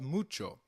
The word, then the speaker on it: mucho: Spanish however when combined with C it is pronounced as chip as in church so can you try mucho again it's called mucho very well as we saw nice to meet